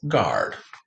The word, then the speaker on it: guard: This is rare g-gwa, two-letter g-gwa, spelled with a G-U, as in penguin. Here it's saying its first sound of g.